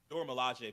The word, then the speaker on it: Dora Milaje: I always get the name wrong. Dora Milaje, but she's not.